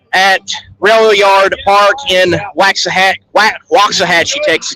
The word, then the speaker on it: Waxahachie: Railroad Park in waxahach Waxahachie Texas you got to say it right it's Watts Not wax so here's the line